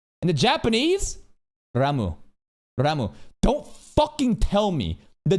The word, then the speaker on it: Ram: Some people are like, no, he's saying Ram like 2 A's. Ram. No, that's a ROM. Here. Pronounce. Can I do this? Is there a YouTube like pronunciation? ROM. Pronunciation. I can't find it. Anyways, this is a no sound, bro. Remember. A. Ram. Ram. Rom. These vowels are very fucking different.